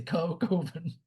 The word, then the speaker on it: Coven: And one of his actors says, well, the word is pronounced Coven. And Mark Borchardt is like, oh no, man, Coven sounds too much like oven, man. We're gonna say Coven.